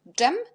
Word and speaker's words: dżem: Et également, DZ, ça nous donne dż. Et DRZ, ça nous donne aussi dż, parce qu'on a déjà dit que jet, Z avec petit point, et RZ, on prononce dans la même façon. Avec D aussi, ça nous donne dż et dż.